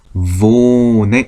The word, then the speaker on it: wohne: 모음 다음에 하, h, 모음 다음에 하가 오면 어떻게 한다? 기억나시나요? 그렇죠. 앞에 있었던 모음을 길게 발음한다. 그러면 오하고 하가 만났으니까 오를 길게 발음하면 되는구나. 그러면 오라고 하면 되겠죠. 그래서 발음을 보면 독일어의 v는 어떤 발음이다? 영어의 v 발음이다. 그래서 wohne 하면 되죠. wohne.